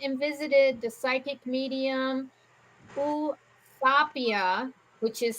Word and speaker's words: Eusapia: Okay, So they went and visited the psychic medium Usapia, which is spelled Eusapia, and his last name is Palladino, which was Palladino.